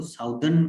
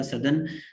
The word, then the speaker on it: southern: ठीक है, इसको साउदर्न कुछ लोग पढ़ते हैं, जो कि गलत प्रोनाउंसिएशन है, वो नहीं कहना, ठीक है, साउदर्न नहीं होता, सदर्न, सदर्न wild, and आई